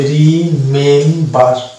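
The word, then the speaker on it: remember: যে রিমেম্বার শব্দটা আমরা উচ্চারণ করি রিমেম্বার, এখানে দেখতে পাচ্ছি এমবি পাশাপাশি, তাহলে এমবি পাশাপাশি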